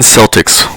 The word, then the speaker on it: Celtics: for the nba's boston celtics was at a downtown bar when he was asked the age-old question why did they pronounce it with a soft sea and not a hard c the agent a few